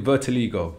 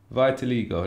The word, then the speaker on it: vitiligo: Today we call it vertigo. Vertigo? Yeah, that's what we call it. Am I pronouncing it right? Vertigo. Yeah, vitiligo.